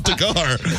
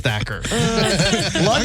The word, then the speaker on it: Thakkar: It's like have lunch on you with Takar. She's like, who the hell's Faker anyways? She's like, I'm sorry. I think your name is spelled is is pronounced Thacker.